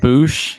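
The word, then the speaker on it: Bossk: But either way, I'm excited to learn more about Bausch. So it's funny you guys keep saying Bausch. I call him Boosh. I used to say Boosh. I've always said Bausch. Pronounced Boosh, guys. Boosh, thank you.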